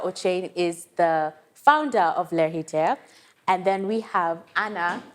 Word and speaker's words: Lheritier: Tell us, I don't even think I said that correctly. Lheritier? Is that how you say it? Lheritier. Yes.